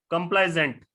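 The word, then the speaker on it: complaisant: Increase in sales in the last few months we कैन not afford to कंप्लासेंट और कंप्लाइजेंट। ये जो दूसरे वाला वर्ड है इसमें एस जो है वो जेड प्रोनाउंस होता है, एस जो है वो जेड प्रोनाउंस होता है।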